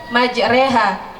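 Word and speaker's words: مجريها: asing yang di mana cara membaca Alquran itu berbeda dengan tulisan yang ada di dalam Alquran tersebuttohnya maj cara membacanya menjadi majreha yang di mana bacaan tersebut dinamakan dengan bacaan ismam bacaan ismam adalah memiringkan bunyi fathah pada kasrah baik Kalau begitu mari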